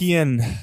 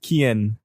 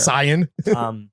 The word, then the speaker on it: Cian: Kian. Sweet CIAN. The sweetest boy. It's spelled. It's pronounced Kian. Key.